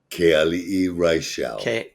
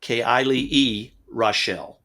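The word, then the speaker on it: Keali'i Reichel: male voices and I'm going to let you pronounce his name again because I can't say it correctly. Keali'i Raichel. Keali'i Raichel.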